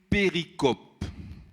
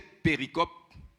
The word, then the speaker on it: péricope: Sa série de versets-là, on appelle ça une péricope. P accent aigu, R-I-C-O-P-E. En anglais, péricopie. Bizarre prononce ça copie là. Français, péricope.